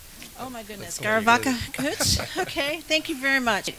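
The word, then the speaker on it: Go raibh maith agat: Garv Mahagut. Oh my goodness, Garavaka Kuch.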